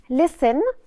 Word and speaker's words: listen: Listen. نفتكر مع بعض. On the T is silent here.